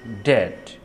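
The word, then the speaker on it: debt: নাম claim claim claim ওয়ার্ডের মধ্যে বা শেষে বিটি পাশাপাশি থাকলে বি এর উচ্চারণ সাধারণত হয় না বিটি যেমন ডেট ইনডেটেড in dated ডাউট এই ধরনের ওয়ার্ড গুলো তারপর লক্ষ্য করুন সি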